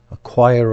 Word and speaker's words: choir: And in English we call this a choir of children.